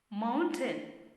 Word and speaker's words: mountain: Mountain. Sometimes you may have heard mountain. It's not the right pronunciation.